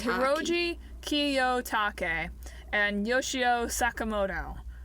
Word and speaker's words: Kiyotake: Kiyotaki. Hiroji Kiyotake and Yoshio Sakamoto. Is it a K? Is it K-E or K-I? K-I. Ki. It's pronounced the same no matter where in the name it is.